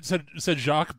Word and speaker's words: Jacq: He's always said Jacq, but it's spelled in a way that it's very easily pronounced Jack, and he honestly doesn't care.